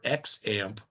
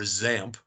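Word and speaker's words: XAMPP: to going ahead is called either X amp or zamp depending on what book you read or what video you watch and it has a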